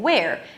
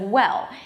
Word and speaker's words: well: So, they'll think that you're saying where instead of well, because the L sound at the end is not about lifting the tongue up. It's not about that LL sound. It's about that weird sound.